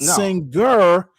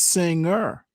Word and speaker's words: singer: Singer, You you don't pronounce that hard G in singer. It's not singer. It's singer.